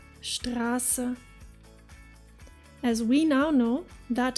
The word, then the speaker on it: Straße: In Germany, you will frequently come across the word Straße, which translates to street, spelled with double S, even though we clearly hear a long A. Listen again. Straße, Straße.